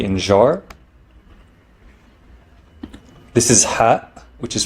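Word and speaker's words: ح: in jar this is hat which is pronounced as an H with a constriction of the throat giving it a sharper sound than H it's not ha it's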